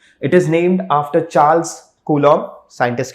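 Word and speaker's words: Coulomb: यहां पर आप देखिए जो बी है इसको प्रोनाउंस नहीं करना रता इट मोस्टली प्रोनाउंस एस क लोम एल एड एम जैसे लन होता है एल एड ए वैसे ही एल एड ए कूलम okay so capital C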